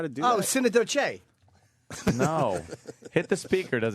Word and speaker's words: Synecdoche: Someone is saying it's pronounced synecdote. Synecdoche.